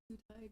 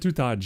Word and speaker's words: Tutaj: Welcome in, Tutai drop. She got it right. I said Tutaj because I forgot. I've never seen a name that ends in J actually pronounced like it has a J in it.